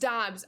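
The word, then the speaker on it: Doubs: It's pronounced Dubes, right? Max Muncy gets it done. Let's go. All good, Brody. All good. All good. Right, what a shame. Why the bunts is still at 0. Get out of here, Constant. Dobbs. It's pronounced Dobbs.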